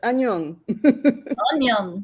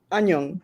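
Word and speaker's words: 안녕: Annyeong, yeah. Onion. Onion. Onion. Would No, you like it's an ah, not an un.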